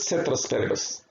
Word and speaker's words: ceteris paribus: Okay, it is pronounced ceteris paribus.